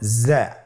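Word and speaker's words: ز: উচ্চারণ করার সময় অবশ্যই এক আলিফ টেনে পড়তে হবে, এক আলিফ টেনে পড়তে হবে। হরফটি বারিক হরফ, এই জন্যে পাতলা করে উচ্চারণ করতে হবে।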